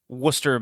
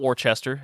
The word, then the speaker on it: Worcester: the 28th in beautiful Worcester, Massachusetts. Not Worcester, as I pronounced it when I first moved to Rhode Island.